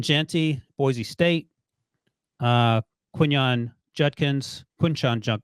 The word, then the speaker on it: Judkins: or am I saying it wrong is junkins Judkins right yeah yeah you had Jenkins Jun the